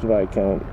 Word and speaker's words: viscount: It's pronounced Viscount. You have to remember in French the S can be silent sometimes in French. So Viscount is pronounced, well, with no S, just long I.